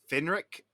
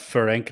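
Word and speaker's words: Ferenc: became engaged to count finr Nas nadasi I keep it's pronounced fank nadasdi Fink okay I was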